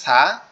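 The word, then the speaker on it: ث: দুইটা হরফ, আরবি টোটাল হরফগুলোর মধ্যে দুইটা হরফ শুধু তিন নোক্তাওয়ালা, একটা হচ্ছে সা আর একটা হচ্ছে সিন, একটা হচ্ছে সা আর একটা হচ্ছে সিন।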